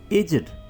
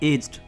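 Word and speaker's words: aged: सो एजेड नहीं बोलें, आपने इसको क्या बोलना है? एज्ड, एज्ड।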